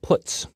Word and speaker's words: puts: They are pronounced printf, putcar, and puts.